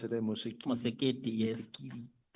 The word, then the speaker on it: Masemola: and that the national commissioner Mosekiti, that's how you pronounce it, eh? Mosekiti.